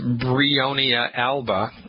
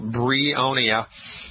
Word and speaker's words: Bryonia alba: The name of the homeopathic medicine is Bryonia alba. You spell that B like baby, R like Roger, Y like yellow, O, N like Nancy, I, A like apple. Bryonia.